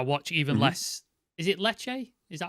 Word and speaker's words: Lecce: Is it Lecce? Is that how we pronounce it? Lecce.